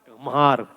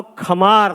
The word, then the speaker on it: खमार: गम्हार। गम्हार। गम्हार नहीं था, वो खमार था, लेकिन ये नजदीक है, इन्हें ध्यान था, इसलिए पुरस्कार आपके लिए।